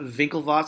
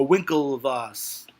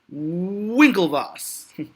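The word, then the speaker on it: Winklevoss: rash it's not vinkle Vos it's whoa whoa whoa whoa whoa whoa Winkle Vos Winkle Vos there's no V how can you pronounce w with a V it's a freaking W it's Winkle boss whoa whoa whoa Winkle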